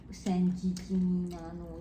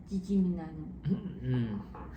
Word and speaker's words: San Gimignano: So after Florence, we went to San Gimignano, is it? That's how you say it? Gimignano.